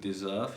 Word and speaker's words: deserve: Just like know what you need to know, that is in between two vowel sounds, like for example in deserve, you need to pronounce it like a Z, and also when it